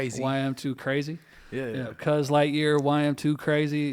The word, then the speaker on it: YM2CRACE: YM2 Crace. That's how you say it? Crazy. YM2 Crazy.